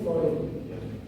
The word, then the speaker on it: Freud: Sigmund Freud. Bukan Freud ya.